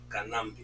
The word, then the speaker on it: Kanambe: Kanambe, il a bien écrit par le but 3 syllabes, Kanambe.